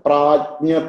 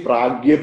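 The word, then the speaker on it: प्रज्ञा: Sometimes, you know, they say pragya pujanam. That should be a little careful when we are teaching. Now, which is correct? See, this jnya is actually ja plus nya.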